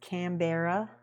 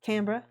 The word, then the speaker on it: Canberra: Not to be pronounced Canberra, because that's wrong. It's Canberra.